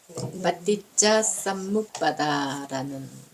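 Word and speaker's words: paṭiccasamuppāda: 이제 이렇게 아시는 걸로 하고 오늘은 수러를 연기 빠띠짜 쌈묵바다라는 빨리어로는 그렇게 발음이 되는데요.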